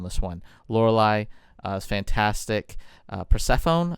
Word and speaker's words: Persephone: Persephone, I believe it's pronounced.